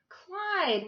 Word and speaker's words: Clyde: him toward her ear Clyde what a nice name it rhymes with slide and that's what you